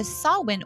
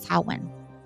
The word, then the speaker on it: Samhain: I am going to show you the Sawwin Oracle, Seasons of the Witch. I know it looks like it says Samhain, right? And it does not. It's not how you pronounce it. It's Sawwin.